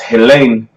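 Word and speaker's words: Hellene: Greek strong Jesus Henry Henry right and it's pronounced Helene Helene Oh Haley nice never goes into the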